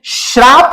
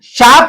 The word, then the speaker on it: शाप: श्राप शब्द नहीं होता, जैसे बोलते हैं जा तो मैंने श्राप दिया, एक्चुअल में इसका उच्चारण गलत है, उच्चारण गलत है, ये नहीं होता है, शाप शब्द होता है।